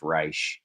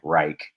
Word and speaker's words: Reich: i did that material his name should be pronounced reish more like with a sh sounding and i would always say like reich similar to like nazis have reichs you know so i